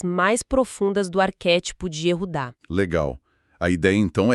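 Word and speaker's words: יהודה: A pronúncia correta é Yehudá.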